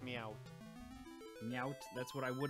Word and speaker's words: Meowth: It's pronounced Meowth.